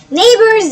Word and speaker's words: neighbors: ونفتكر دايما يا ولاد ان الجي اتش سايلنت، الجي لما يجي وراها اتش تبقى سايلنت. يعني ايه سايلنت؟ يعني ما بتتنطقش، زي كلمه نايت ان اي جي اتش تي. الجي اتش انا ما نطقتهاش اصلا.